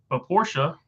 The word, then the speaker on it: Porsche: Yeah, the 911 is not a hybrid, but Porsche, I remembered to say it right there, Mark.